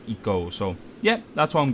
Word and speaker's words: ICO: i'm pronouncing eco right i always thought it was i'd go but uh i looked on the team eco wikia and it says it's pronounced double e and co so like it go so yeah that's what